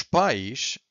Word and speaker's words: pais: But os pais, which is the word that we have here, pais, so we stress the P and the A, pais, means parents, okay?